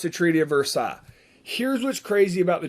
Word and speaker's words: Versailles: it's spelled the treaty of versailles but it's pronounced the treaty of versailles here's what's crazy about the treaty of versailles